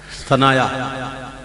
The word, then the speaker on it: ثنایا: آنکھ سے نہیں ہوتا۔ یہ ہے عربی والا ثنایا، جس کو سنایا بھی کہتے ہیں، لیکن اصل تلفظ ثنایا ہے۔ المنجد میں دیکھ لیجئے